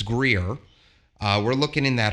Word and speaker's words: Greer: at simpsonville i've been looking at grier i think i'm saying it right is it it's greer uh we're looking in